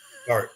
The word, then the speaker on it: Dart: Dort or Dart? Dart.